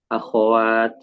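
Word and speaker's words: أخوات: artinya gimana artinyaya disukunkan Padahal kalau tulisan arabnyanya hidup dengan fathah ya akwat akwatya dibaca bukan disukunkan sering kalau kita nulis itu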